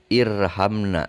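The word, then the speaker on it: ارحمنا: Membacanya ketika ada di awal bacaan, maka harus kita kasih harokat. Dibaca irhamna.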